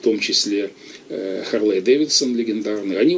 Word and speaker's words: Харлей: Точнее, он назывался Харли Дэвидсон тогда, это потом уже как бы ударение перенесло, транскрипцию, да, сменили. Харли Дэвидсон, вот первые рекламы. А тогда вот перед войной Харлей привезли уже, видимо, этот